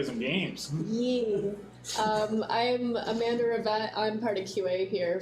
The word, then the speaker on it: Rivette: If there's two consonants in French, like two T's, then you have to pronounce it.